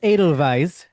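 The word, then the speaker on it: Edelweiss: Idle Vise, I think is pronounced like a V, right? Idle Vise. Adel Vise is Adidal Vise.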